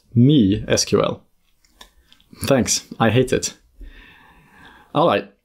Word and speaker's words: MySQL: So MySQL should really be pronounced MeSQL.